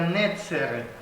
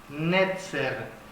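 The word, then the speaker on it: נצר: Sí, un brote, esta palabra brote, hermanos, en hebreo se pronuncia netzer, netzer.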